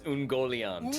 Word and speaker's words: Ungoliant: It's Ungoliant.